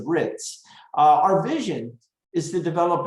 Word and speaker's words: RITMS: The M is silent there, it's the RITS.